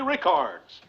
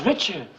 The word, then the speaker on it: Richards: You said Rickards! I don't get your point, Murr. Her name is Richards.